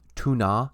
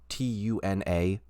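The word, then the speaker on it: Túna: Also, I say this, I feel like every time it gets mentioned, but Tuna, T-U-N-A, is pronounced tuna in English, but there is an accent over the U, so I say Tuna.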